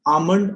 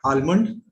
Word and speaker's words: almond: Yeah, this is almond and not almond, which is again very commonly mispronounced.